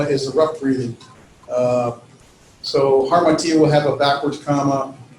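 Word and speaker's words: ἁμαρτία: You're going to add an H sound to it. So harmatia. Well, there's no H in the spelling, but it has a rough breathing, so it's H-A, martia. And so you pronounce it with the H sound, harmatia, that means sin.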